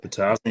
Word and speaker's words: Potoczny: I'm here with Mike Potoczny. Say it right? Potoczny, you got it.